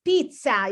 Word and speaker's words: pizza: can miss this one it's not pizza it's pizza you have to pronounce the double z pizza pizza okay pizza